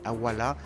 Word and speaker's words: Awala: Et c'est de là, et comme vous entendez le Awara, vous entendez Awala, parce que l'amérindien, surtout les Galibis, ne prononce pas le R.